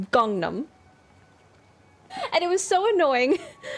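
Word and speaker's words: Gangnam: hear people say like gangnum style for that that that song that was everywhere he clearly says Gangnum right Gangnum like I know it's spelled Gangnum but he says gongnam and it was so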